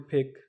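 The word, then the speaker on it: 백: उसके बाद 100 है तो 100 को हम पढ़ते हैं फेक, यानी कि बी एप है, बी एप यहाँ पे फे की आवाज़ देगा, स्टार्ट में आ रहा है।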